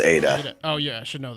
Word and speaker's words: eta: nothing fest but anyways edda the seventh letter in the greek alphabet no it's pronounced it's pronounced eta oh yeah i should